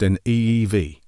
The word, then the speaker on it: Niamh: Finally, let's look at Niamh, spelled Niamh. This lovely name is pronounced Neev.